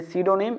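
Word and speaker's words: pseudonym: क्या हो जाएगा, सीडोनीम, यानी 13 का सही आंसर हो गया ऑप्शन डी सीडोनीम, यानी पी साइलेंट है।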